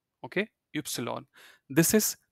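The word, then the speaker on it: Ypsilon: X like X of y x this is ipsilon okay ipsilon this is set yeah set if you think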